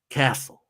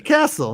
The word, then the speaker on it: Kosel: Richie Kosel says, okay, it's pronounced Castle. Richie Castle, huh? Okay. All right. Ancestors came from Germany in the late 1800s, I believe, and changed the spelling for whatever reason. All right. Like the drums.